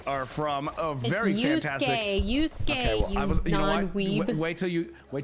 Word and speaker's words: Yusuke: Kuwabara and Yosuke Urameshi are from a very fantastic- Yusuke, okay, well, non-weeb.